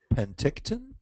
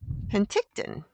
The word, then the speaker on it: Penticton: Sharon is from Sunny pent how do you pronounce that Brian you think Penticton Penticton British Columbia spring like Susan that's awesome beautiful